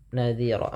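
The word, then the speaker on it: نذيرا: Kemudian pada lafal nadhira, ini ada bacaan mad iwad, yang dimana cara membacanya adalah merubah huruf fathatain, awalnya ron, berubah menjadi panjang, nadhira, maka dinamakan iwad.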